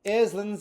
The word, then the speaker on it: island: is what we are Island but it's spelled island island a word that conjures up Tropical Paradise and a place where influencers go to find true love but also it conjures up my blood pressure because the second letter is s now I'm sure there's